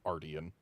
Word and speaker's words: Ardian: get on Ardian weapons, I keep on pronouncing it arian because that's what I'm used to, but wrong. According to the master smith who pronounces it Ardian, but uh monster are we after this time?